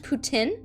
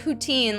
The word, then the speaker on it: poutine: as a canadian i have to educate it's pronounced tin as because it's french putin oh i actually didn't know that jimmy habanero thank you so much for the education because i've been calling it poutine like an american this whole time nobody's corrected